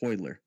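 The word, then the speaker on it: Royler: it was spoiler Gracie it's r-o-y-l-e-r but it's pronounced hoyler I don't know this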